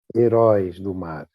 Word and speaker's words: Heróis do Mar: Hiro Dumar. Is that it? How do you pronounce it? Hiro Dumar.